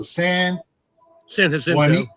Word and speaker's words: San Jacinto: So researchers in Switzerland and other places I'm going to mispronounce this, so I'm going to spell it. JAC froze JACINTO. So San Jacinto.